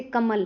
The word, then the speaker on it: कमल: जैसे कमल है, नगर है। इन शब्दों में म और ग पे ज्यादा जोर दिया जाता है।